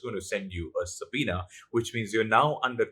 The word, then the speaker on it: subpoena: The word for today is subpoena. S-U-B-P-O-E-N-A. Now, the B is silent, so you just say subpoena.